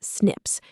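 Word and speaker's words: SNP: The tiny 0.1% differences are mostly single letter changes in our DNA code, called single nucleotide polymorphisms, pronounced as snips.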